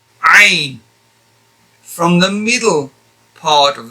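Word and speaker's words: ع: But this is more like pushing the air out, whereas in this case here, it's ain. Like no air coming out. You're just literally pronouncing the letter using the tongue and the throat. Ain. Ain.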